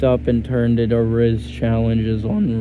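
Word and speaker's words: rizz: It rhymes with the app's name Whiz, which teens picked up and turned into a Riz challenges on R whiz.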